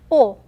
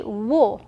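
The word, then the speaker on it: を: have wa and then o now the bottom one it should be wool right but we do not pronounce the w here it's the same pronunciation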